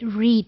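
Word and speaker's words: read: वही वर्ड है बट we pronounce it एज रेड second and third form of रीड is pronounced as रेड एंड रेड दो these have the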